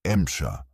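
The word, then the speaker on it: Emcha: Soviet crews called it MSHA, their pronunciation of M4C.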